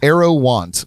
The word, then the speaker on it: Aerouant: if you look back i think i put it like arrow dash want want that's it's an